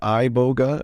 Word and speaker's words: iboga: Africa what was that some people pronounce it iboga I pronounce it Ebola which spell i-b-o-g-a oh it's an amazing